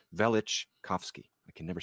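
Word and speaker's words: Velichkovsky: velic chowski I always people dispute the pronunciation of both his first last name but it's vich kovsky I can never say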